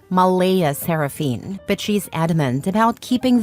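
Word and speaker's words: Mleigha Seraphynne: yes spelled exactly like that CLA insists it's pronounced Mala seraphine but she's adamant about keeping the creative spelling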